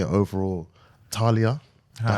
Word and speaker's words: TAAHLIAH: TAAHLIAH.